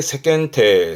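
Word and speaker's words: 世間体: 세겐 여기다가 뒤에 하나 더 붙습니다. 체자죠.이 체는 몸 채자긴 하지만 이게 최면의 채기도 하거든요. 그래서 발음은 세겐테입니다. 세태. 그래서 세상에 대한 체면, 세간에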